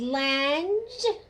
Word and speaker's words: Lange: I have my buddy here, Lange.